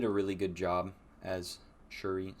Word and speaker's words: Shuri: really good job as shuri Suri not sure to pronounced that they call her Zuri it's spelled with an sh she did an excellent